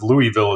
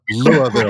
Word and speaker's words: Louisville: My parents are from Louisville, so we can get into the pronunciation of Louisville as well if we'd like to. Louisville.